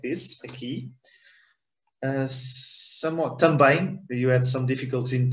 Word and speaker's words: também: Try to divide it in two syllables, tan and bem. One syllable, okay? Tan, one syllable, bem, two syllables.